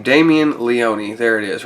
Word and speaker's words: Leone: I'm not sure how you pronounce it. I say Leone, like Sergio Leone. That's just me. But so I'll say Sergio Leone because that's how I hear most people say it.